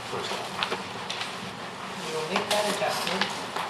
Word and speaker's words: Farstad: I don't want to pull it, but I do want to acknowledge that Jennifer Farsted's name is spelled incorrectly. And I apologize to Jennifer for that. It's Farstad, not Farstad.